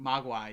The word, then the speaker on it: Mogwai: like little gizmos or mogwas how do you pronounce it Mogwai yeah yeah like I was like yeah that's